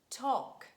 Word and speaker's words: talk: and letter l and mostly letter l is silent when it's preceded by vowels aou and is followed by a consonant for example huff cough palm bum walk talk chalk and could would